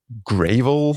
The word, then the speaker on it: GRVL: And uh yeah, they just sort of unveiled uh Gravel. I guess this is uh this is meant to be pronounced GRVL, graphics rendering visual library, which happens to Yeah.